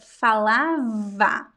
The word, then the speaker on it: falava: So when you are saying the verb falava, so the B would be like you have to touch your lips, right? And there is no sound passing when you pronounce the B, ba. But when you pronounce the V, there is air passing through your teeth. Va, ba, va.